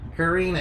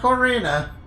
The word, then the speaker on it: Karina: Karina, yeah. It's not Corina. How No, Karina.